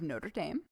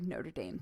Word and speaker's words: Notre Dame: All right, we're going to use the American pronunciation since this is that university. The University of Notre Dame.